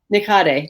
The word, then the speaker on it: Nikhade: and how do you say your last name nikate n-i-k-h-a-d-e so even without being friends you can